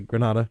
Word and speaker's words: Granada: Am I pronouncing that correctly? Granada?